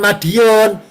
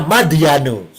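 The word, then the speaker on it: مدين: mim dal ya nun apa bacanya bukan Madiun kalau Madiun dekat Ponorogo Jawa Timur ini bacanya madyanu.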